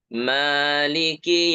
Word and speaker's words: مالك: Huruf mim kita baca tipis ma, jangan mo, tapi maliki. Jangan juga dibaca cepat. Malikiyah, malikiyah, huruf kafnya jangan cepat ya bacanya, ikhtilas namanya, atau sukun kafnya. Jadi malik yaumiddin, malik yaumiddin, malik yaumiddin. Nah, itu salah ya. Tapi kasroh sempurna.